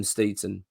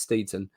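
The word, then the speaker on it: Steidten: amount of pressure on Tim steeton that's his name apparently that's how you pronounce it that's what I'll hear unless I'm wrong let me know but I think it's Steven it puts a massive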